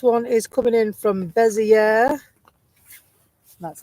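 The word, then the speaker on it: Béziers: 24 uh this one is coming in from bezier that's how you say it and it's a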